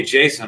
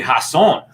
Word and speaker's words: Hasson: my name wrong because they've been calling me jason all these years but it's actually hasson and i i got